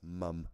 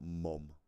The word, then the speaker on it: mum: And that's mum, not mom. Because we spell it M-U-M over here. Not M-O-M. So if it doesn't sound like I'm saying mom, it's because I'm not. I'm saying mum.